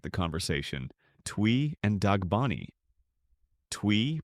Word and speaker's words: Twi: Twi, pronounced Shwi, is the language of the Ashanti and is widely spoken across the southern and central regions of Ghana.